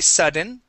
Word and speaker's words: sudden: The English D is just the same. So when I say aire, aire, okay, and I say sudden, okay, you can hear a d, d sound.